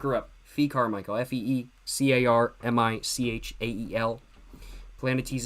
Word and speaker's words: Planetes: Planet Tease is spelled Planetes.